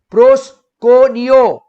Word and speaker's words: proskuneo: Now, this word worship in Greek, the Greek word worship over here is pronounced as proskuneo.